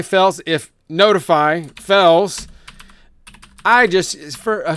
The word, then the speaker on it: ntfy: also self-hosting notify I I may have said ntfy earlier it's kind of hard not to say that so I might accidentally say that it's the author wants it pronounced not so I'll try to say notify and so I have